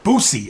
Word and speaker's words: Boosie: his name wrong booy booy I say booy booy like booze okay booy booy booy with an S not a z all right right well